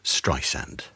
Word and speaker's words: Streisand: I have no idea because it's spelled S-A-N-D, which is sand. Yes. On the beach, right?